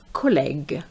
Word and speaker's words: collègue: So we have collège versus collègue. So you can see that that extra U makes a difference. collège collègue désert dessert Be careful here.